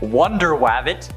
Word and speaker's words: Wonder Wabbit: also features superheroes like Wonder wabbit that's actually how it's said Aqua Duck bat Mouse